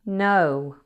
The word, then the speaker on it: know: No has a silent K at the beginning. Now, if a word begins with K and then N, it's common for that K to be silent. So if you see KN, just ignore the K.